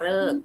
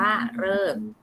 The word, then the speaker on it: ฤกษ์: นะ คะ ทั้ง นี้ ก็ อ่าน ว่า รอ สะกด ว่า รอ เออ ก่อ ฤกษ์ นะ คะ อะ เวลา สะกด จะ สะกด ว่า รอ ออ ก่อน เลิก นะ คะ อ่าน ว่า เลิก ค่ะ อยู่ หน้า ทำ จะ